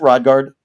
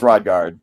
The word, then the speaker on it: Rodgard: Is it Rodgard? That's correct. It's Danish and you wouldn't want to hear what it's pronounced like in Danish. We're going with Rodguard.